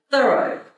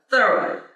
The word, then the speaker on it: Thoreau: come to understand that his family actually pronounce his name Thoreau instead of the road Thoreau like my mom used to say clean you better do a thorough job thorough thorough job when you clean those windows get into edges do a thorough job thoroughly so pronunciation was with the emphasis on the first part however I have been